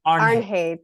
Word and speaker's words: Arnheid: Arnheid, thanks.